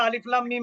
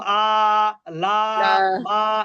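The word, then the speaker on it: الم: না যদি হরকত না। থাকতো তাহলে কি আমরা আলিফ লাম মিম বলতাম, নাকি বলতাম আ লা মা, এগুলো জি বলতাম না?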